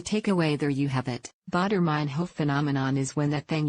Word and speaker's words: Baader-Meinhof: phenomenon and it's stuck by the way it's pronounced thought airman Huff the takeaway there you have it baader-meinhof phenomenon is when that thing you recently found